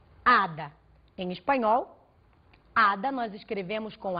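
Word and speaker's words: hada: Portanto, você pode elaborar várias analogias em cima disso, como por exemplo, ada.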